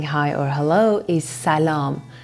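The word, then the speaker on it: سلام: passion way of saying hi or hello is salam salam not salam as most foreigners pronounce it another point about this word i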